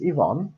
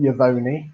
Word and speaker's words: Yvonne: she has many names i can say her name properly now you know her name is yvonne or i call her ronnie uh you know she's not called yavoni but as i thought